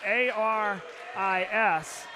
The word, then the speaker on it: Aris: So, how good is it to see Aris Rodriguez come off the bench? And the name spelled A-R-I-S. And Rick Perez was good enough to tell us it's pronounced Aris.